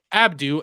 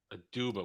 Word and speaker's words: Aduba: face, and that it was I said her name wrong. Abdu as Eddie came in. Aduba.